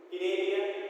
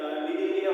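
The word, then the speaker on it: Cnidaria: We'll remember in the sequential form: Porifera, Cinalia, C is silent, we can Linealia also, or Cinalia also we can speak.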